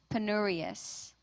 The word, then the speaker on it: penurious: Your word has two pronunciations, penurious, penurious.